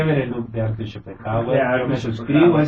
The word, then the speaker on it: Schopenhauer: nació Arthur Schopenhauer, así se pronuncia, Así es, si no me equivoco.